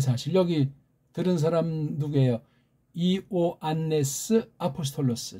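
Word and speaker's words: Ἰωάννης: 이오안네스 아포스톨로스, 즉 요한 사도란 말이에요. 요한이라는 말도 이오안네스라고 해야 돼.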